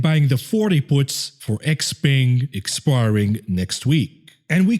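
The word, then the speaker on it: XPeng: away all right so the pronunciation is x-ping not g-ping x-ping and neo you see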